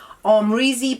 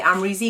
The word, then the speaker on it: Amrezy: Hills which is the Armory's Z palette or I'm really palette however you want to pronounce it I say amra Z because I'm just so used to saying it I mean he is